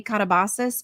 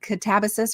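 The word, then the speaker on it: Katabasis: I want to say katabas, but it's not. It's like catabus or something like that. I heard it on a podcast and I'm like, I never would have guessed that's how it's pronounced.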